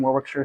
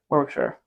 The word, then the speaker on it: Warwickshire: the rugby school and Warwickshire so important Warwickshire Warwickshire Warwick it says Warwick yeah but you don't pronounce the middle of this world you know why that's